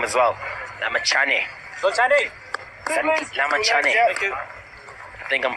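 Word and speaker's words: Lamichhane: Sandeep Lamachane. Thank you. I think I'm pronouncing it right now, finally.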